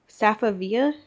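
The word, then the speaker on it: Safavieh: And same as always, I have my Safavia, that's how you say it, rug from Ashley's.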